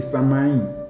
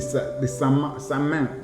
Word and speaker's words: Samain: encore, comme la fête des Samaïn ou des Samain. Bon, ça dépend de comment vous allez prononcer ça, mais c'est S-A-M-A-I-N, qu'on a plagié et